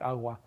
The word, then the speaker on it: agua: Again, there are dialects of Spanish where if you have a G between vowels, it'll get this kind of sound in words like agua.